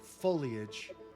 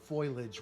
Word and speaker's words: foliage: Um, as you break through a clump of foliage, foliage, it's pronounced foliage. Uh, folage. If I If I hear foilage one more time, I'm going to scream.